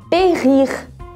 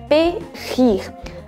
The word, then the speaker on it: périr: Então, sauver ou périr, périr. A função aqui do acento agudo, gente, é somente mudar a pronúncia do E, vai deixar de ser E e passa a ser E, mas ele é pronunciado.